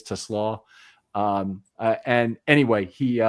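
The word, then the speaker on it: TeSlaa: Now it's they pronounce him Tesla a lot, but I think it really is Teslaw.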